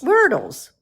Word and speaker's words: Wordle: word and then l-e-s werbles werdles like myrtle but wordle sort of not